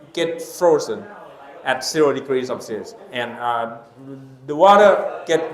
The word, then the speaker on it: Celsius: by under Celsius okay in European pronunciation okay Celsius but in English Okay Celsius are is the system